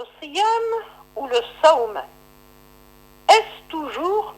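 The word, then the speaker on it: siyâm: Mais si on trouve une voyelle I dans la première syllabe, alors le W devient Y, le W devient Y, comme dans Siyam. Et cela pour harmoniser la prononciation du mot.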